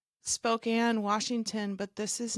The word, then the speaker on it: Spokane: You're all the way in Spokane. Did I say it right? You got it. Spokane, Washington.